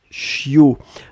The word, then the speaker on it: chiot: Le bébé de chien, c'est ce qu'on appelle un chiot. On écrit ça, c'est H I O. On ne prononce pas le t final.